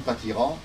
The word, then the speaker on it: Patiras: Dans les Médocains, on dit Patiras, hein, mais moi, dans ma famille, on a toujours dit Patira. Et lorsqu'on prend la carte de masse de 1723, il n'y a pas de S.